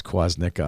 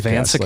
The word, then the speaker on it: Kwasnicka: It was great watching Danny try to pronounce Kwasnicka on the podcast. Kavancica? Like, oh my gosh. I'm like, just put a W there. It's not that hard. Just put a W instead of a V and it's not that hard.